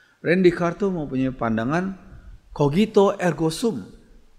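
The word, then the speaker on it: René Descartes: namanya Rin jika besarnya Rene Descartes Tapi bacanya Rendy Rendy kartu mempunyai pandangan kau gitu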